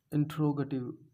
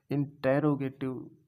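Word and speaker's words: interrogative: मतलब किसी भी सेंटेंसेस को इंट्रोगेटिव कैसे बनाए, इंट्रोगेटिव क्या कह रहे हैं, इंट्रोगेटिव, ठीक है, इंट्रोगेटिव। इंटेरोगेटिव भी कह सके हैं लेकिन वह प्रोनाउंसिएशन गलत हो जाएगी, इंट्रोगेटिव, ठीक है, इंट्रोगेटिव कहते हैं।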